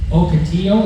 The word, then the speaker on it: Ocotillo: And that was called Ocotillo, is that how you say it?